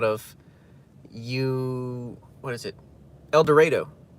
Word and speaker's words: El Dorado: El Dredo. not El Dorado, even though it's spelled Elor Dorado.